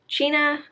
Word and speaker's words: China: the adventures of china iron cheena if you read it just straight off the page without knowing that it's supposed to be pronounced china looks like china which